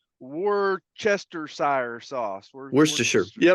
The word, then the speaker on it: Worcestershire: You have no problem pronouncing Worcestershire sauce. Worcestershire. Yeah, right. Yeah, there you go. There's it's Worcestershire.